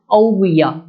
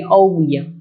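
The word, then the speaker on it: ouguiya: और इसकी जो करेंसी है वो है औविया, ठीक है, आप देख पाएंगे औविया।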